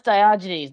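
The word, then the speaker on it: Diogenes: Well, that's uh that's Dioynes.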